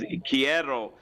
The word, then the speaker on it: quiero: could say uh take quiero i love you take care take care yeah take care yeah but you gotta roll your r see now you're forgetting because chierro you need to say